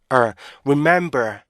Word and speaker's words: remember: B 스톱 사운드에 강사가 들어가는게 가장 좋아요 그래서 remember remember remember 이렇게 remember 이렇게 발음 하셔야 되는데 우리의 사람들은요 remember 중간에 맵